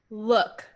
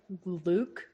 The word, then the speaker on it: lewk: Look. Well, more like Luke is how I would pronounce it, but it's pronounced look. To see. It's Lewk.